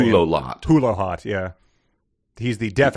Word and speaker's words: Hulohot: It's pronounced Hulohot. Yeah, I mean I would just say Hulohot.